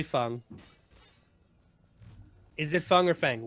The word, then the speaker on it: Feng: It's been Fang for a year and a half. Your emotions don't trump objective truth, and the objective fact is that it's Feng. It's a Chinese name, and that's how you pronounce it.